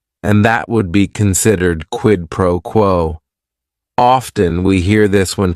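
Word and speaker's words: quid pro quo: It is three words. Each word is only one syllable. And if you're saying it together, the stress is kind of on that first word and that last word.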